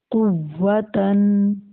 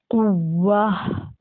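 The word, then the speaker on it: قوة: تا دو زبر تن، قوتن. اب وقف کریں گے تو اس کو، یہ گول تا ہے تو یہاں ہم اسے ہا سے بدل لیں گے، ٹھیک ہے. اور پڑھیں گے قوا.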